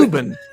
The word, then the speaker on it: Woburn: Wobin. Woburn. Woburn is how you pronounce Woburn.